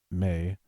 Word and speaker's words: Mai: So the relationship between Hai and her daughter Mai, or May, I believe it's Mai.